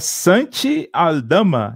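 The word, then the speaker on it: Aldama: escolha foi mais um espanhol chegando né é Sante a Dama é assim que se pronuncia alarma ala-pivô ele que tá indo para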